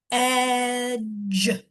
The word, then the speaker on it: edge: And the D is silent. So, this word is going to be edge.